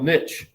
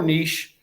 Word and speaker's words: niche: First term you need to know is something called ecological niche or niche. You can pronounce it either way. I've heard it both ways.